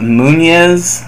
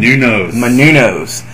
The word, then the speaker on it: Menounos: It was Beth Phoenix and Eve Torres versus Kelly Kelly and Maria Munoz. Is that how you say her name? Menounos from Extra Hollywood or whatever.